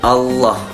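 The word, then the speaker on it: الله: Lafaz Allah dibaca tafkhim dalam artian tebal, berbunyi Allah, seperti bunyi O ya, seperti bunyi huruf O.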